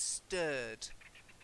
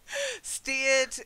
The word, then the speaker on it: stirred: Steered is to steer a car. The steering wheel, to steer. Yeah? But stirred. So it's important to get that one right.